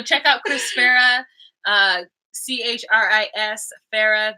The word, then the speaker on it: Chris Farah: CHRIS Farah. The H is silent in Chris. And last name Farah, Farah.